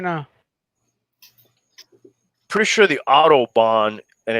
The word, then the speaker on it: autobahn: start looking for you the audubon society yes autobahn roll out the audubon society what is the